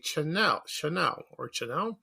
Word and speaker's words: Channell: The man who founded the company, his name was Charles A. Chanel. It's spelled Channell.